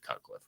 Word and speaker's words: Cutcliffe: well his name uh last name rhymes with rutcliffe and his first name is the same as mine it's David cutcliffe right my name's actually